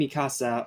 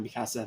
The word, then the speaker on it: Mikasa: of course Aaron and Mikasa are one of them sorry not Mikasa Mikasa I keep forgetting to pronounce that correctly so following graduation they